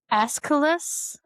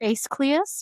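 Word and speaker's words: Aeschylus: It's escalus. It's a e s h y l u s. So es I think it is or ace cleus version.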